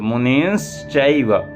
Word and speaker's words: मुनिश्चैव: अब यहाँ देखिए मुनिश्चैव, ऊपर अनुस्वार भी है और श भी है, तो मुनिश्चैव तपोधनान, यहाँ पर संधि हो गई है, ये मुनिम चैव है, तो गर्गम मुनिम नमस्कृत्य नारदम मुनिसत्तमम।